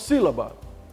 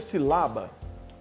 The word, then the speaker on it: sílaba: Nós falamos sílaba. Poderia ser silaba, poderia ser silabá, mas na pronúncia é sílaba.